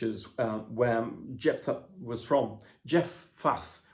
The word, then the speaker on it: Jephthah: where jephthah was from jeff faff was probably the best pronunciation of his name i might get it